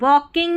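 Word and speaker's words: walking: वॉकिंग में जैसे मैंने बताया एल साइलेंट है।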